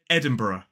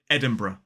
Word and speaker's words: Edinburgh: The first one, it could be pronounced as Edinburgh. Edinburgh. 4 syllables, the stress falls on the first, so it's e-d, then a I, n, then b, and a schwa, and a. Edinburgh. Edinburgh. However, quite a few people drop that first schwa and make it a 3-syllable word and say Edinburgh. Edinburgh.